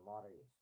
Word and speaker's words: Maori: When you say that, you got to roll the R, right? Ordinarily, I would say that don't try that at home, right? Leave that to the professionals. But um, you need to learn how to pronounce the Maoris if you are going